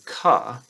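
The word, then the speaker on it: CAH: Now, if we do that for all of these, then the next word you can use would be ka. Again, it's not a real word, but it's spelled as C-A-H.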